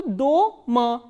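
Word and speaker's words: дома: This word we have already done, the, o, ma, a, and the stress is on o. So, do, ma, doma.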